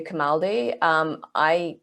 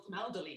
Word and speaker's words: Camaldoli: I've heard people call it New Camaldi. There's an extra syllable in there, but anyway. Camaldoli, yeah, but anyway.